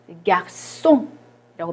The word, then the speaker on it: garçon: 우리 세 밑에 이거 갈고리 비슷한 세디유가 붙으면 스 발음 garçon이라고 발음을 하고요.